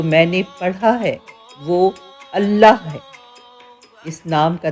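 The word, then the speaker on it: الله: نے پڑھا ہے وہ اللہ ہے۔ اس نام کا تلفظ انسانی زبان میں ایک منفرد موسیقیت رکھتا ہے، کیونکہ اس کے تمام حروف حلق سے ادا ہوتے ہیں، نہ کہ ہونٹوں سے۔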